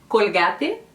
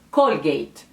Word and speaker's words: Colgate: que é a Colgate, pode ter duas pronúncias no espanhol. Tem gente que vai dizer Colgate, porque essa L, né, bem carregada, Colgate, e tem gente que vai dizer Colgate.